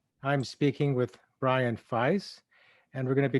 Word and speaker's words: Fies: And in our brief chat, I didn't have a chance to tell you my name's pronounced Fies.